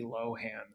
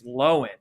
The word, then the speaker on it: Lohan: going home with Lindsay Lohan one night actually sorry I pronounced her name wrong it's lowen right I think she's changed